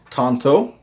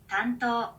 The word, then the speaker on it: tanto: thing has to say Tanto Tanto so honestly in the Japanese it does sound a lot more like Tanto listen to that again Tanto it sounds like tanto so here let oh